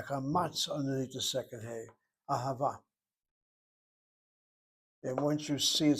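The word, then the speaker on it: אהבה: And again, the word ahava, sounds like a word which has three ah sounds to it.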